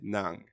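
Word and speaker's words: nặng: ensuite le 4è ton c'est Nang lui ils vont venir chercher raclé à la gorge n ensite le 5è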